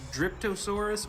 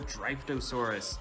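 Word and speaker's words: Dryptosaurus: I believe it's pronounced Driptosaurus or Driftosaurus.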